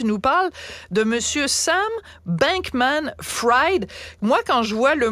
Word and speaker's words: Bankman-Fried: Fried, comme ça qu'il le prononce, Bankman-Fried.